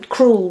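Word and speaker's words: crewel: Appleton's cruel wool and Cru spelled c r e w e l and I'm just saying that because I I'm probably not pronouncing it correctly so it sounds like cruel as in meane but it is cruel W and I bought the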